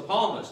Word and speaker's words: psalmist: david hey the palms i was saying it wrong the whole time it's the palmist amen the palma said in palm 32 1.